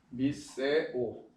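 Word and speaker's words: μισέω: 그래서 미세오라고 하는데, 자, 미세오. 자, 미세오라고 발음합니다.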